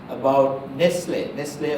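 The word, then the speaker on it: Nestlé: I may have mentioned about Nestle or Nestles as some people call it, it's actually pronounced Nestle.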